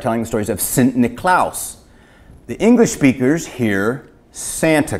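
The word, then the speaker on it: Niklaas: The Dutch, Northern Europe, freezing their off, and their name was, they pronounced St. Nicholas, Sint, S-I-N-T, Niklaus, N-I-K-L-A-A-S.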